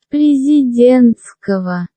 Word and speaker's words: Президентского: Президентского. Oh, so that G makes a V sound because of some weird Russian bullshit grammar part.